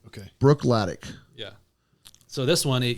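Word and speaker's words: Bruichladdich: go how do you say it again uh Brook latic okay Brook latic yeah so this one it uses only local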